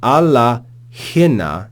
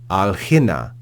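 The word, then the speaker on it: ἀλλ’ ἵνα: because the following word begins with an aspirated vowel, hina. So to say alla hina is sort of messy. And so they just drop that final alpha and say alhina, which is easier to pronounce.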